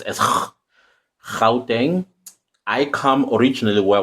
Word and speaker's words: Gauteng: So the G is pronounced as Gauteng.